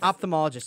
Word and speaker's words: ophthalmologist: and then there's optimal that's what it is ophthalmologist and their largest is what the difference is between the optometrist and ophthalmologist I believe one goes more eyeball you know